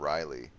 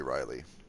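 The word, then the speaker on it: R'lyeh: a city called the city of Reilly or it's pronounced some weird way but I would say Reilly and in that city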